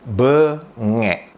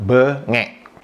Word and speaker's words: bengek: Di mana di kosakata kedua di Indonesia itu pengucapannya adalah bengek. Jadi pengucapannya huruf E pertama itu diucapkan dengan lembut, dengan lemah. Kemudian E kedua diucapkan dengan keras, bengek.